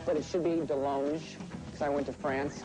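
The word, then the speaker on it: DeLonge: at Gary's chicken and ribs I and Tom Delong but it should be Delong cuz I went to France and they said you're pronouncing it wrong I'm along is a your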